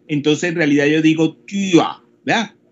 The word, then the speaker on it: Tür: O sea que se escribe T, U con la diéresis R, entonces en realidad yo digo Tür, ¿verdad? Tür, como tía, el parentesco, pero eso es puerta. Se escribe Tur con la diéresis, pero en realidad se pronuncia como Tür.